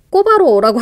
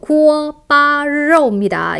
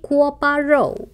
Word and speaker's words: 锅包肉: 라이 이거 하나에 锅包肉 여러분 꼬바로우라고 하죠. 구워바로우입니다. 이 음식 이름 정확한 발음으로 한번 연습해 보세요. 다시 구워바로우.